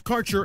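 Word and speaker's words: Kaercher: Quality cannabus Insurance Services is spelled k a e r c h e r that's carer insurance we have worked with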